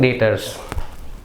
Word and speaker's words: debtor: Same thing debtors. Very simple. When a businessman sells goods on credit to customers, those customers are called debtors. Student, here B is silent, means we can say debtor, not debtors.